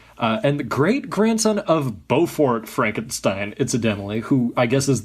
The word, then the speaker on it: Frankenstein: And the great-grandson of Beaufort Frankenstein, incidentally, who I guess is the owner of the deed to the castle, the Frankenstein castle. Victor Frankenstein, as he likes to pronounce, not Frankenstein, as he points out numerous times throughout the movie.